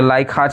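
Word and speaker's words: Leichhardt: यह लाइक हार्ट ही होगा। हां प्रोनाउंसिएशन सही है इसका। जर्मन है वर्ड।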